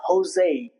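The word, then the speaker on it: José: h for example in some Spanish origian words it's not Jose it's Jose okay It's not jalapeno, it's jalapeno.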